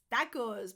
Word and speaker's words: tacos: Tacos, because tacos sometimes come with salsa as well. This is all very Mexican so far. Tacos. It's a short A.